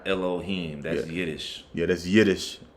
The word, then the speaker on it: Elohim: Strong's h430 entry one hello Ash it'll be pronounced second entry Elohim Elohim okay I'll cut that off the